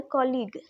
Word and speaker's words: colleague: अर्थात गाइज आप कह सकते हो कि जब भी किसी शब्द के, किसी वर्ड के लास्ट में जी आया हो, यू हो और ई आया हो, ये तीनों साथ में हो, तो वहाँ पर जो यू होता है गाइज वह क्या होता है, साइलेंट होता है।